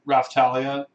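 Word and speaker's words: Raphtalia: for a while they sent this really weird raftalia that's how you pronounce her name looks like she's in pajamas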